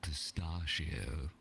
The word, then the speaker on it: pistachio: The pistachio. Yes, pistache with What a kind C. of nut is that? Such a... Pistache. Why is Pistachio. it pronounced pistachio? Chio. Like Kio.